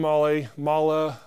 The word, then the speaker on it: Mahle: I've heard so many people tell me the correct way to say it, and they're all different. So we're going to say Mahle.